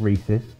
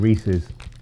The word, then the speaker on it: Reese's: not had these before because i was calling them reese rather than reese's this has got a